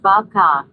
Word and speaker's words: babka: Now Bree says I think it's pronounced babka. Babka? Babka. Yeah, that's probably right. Babka. Babka. Babka. Like a sheep. Like a sheep would say it.